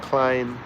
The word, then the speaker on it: Clyne: So yes, 2 O's, 1 N in my first name, and Klein. Think of Calvin Klein, but it's spelled differently.